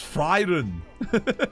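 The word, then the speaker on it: Frieren: It's like Fräulein, but Freyren. It's because they invert it in Germany. In English, free is the I before E.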